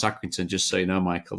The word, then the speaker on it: Accrington: for League one this weekend I can hear accrington that's the way you pronounce accrington just so you know Michael they're taking not